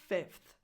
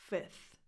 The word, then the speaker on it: fifth: So it's not 5th, it's 5th. But since this is not the easiest sound to make, you can also drop the F before the TH and just say 5th.